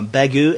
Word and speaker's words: Bagieu: month uh you know I looked up uh begu and I guess that's how you pronounce her name she's French it's b a i